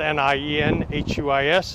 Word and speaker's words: Nienhuis: Again, my name is Hernando County Sheriff Nienhuis, spelled N-I-E-N-H-U-I-S, and it's pronounced Nienhuis.